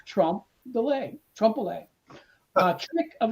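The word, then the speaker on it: trompe-l'œil: if deliberate by the artist is called a trump delay pronounced trump delay triple a uh trick of the eye which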